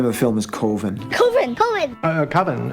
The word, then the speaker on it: Coven: is koven Ken uh coven that's the proper pronunciation no no coven sounds like Oven Man and that's just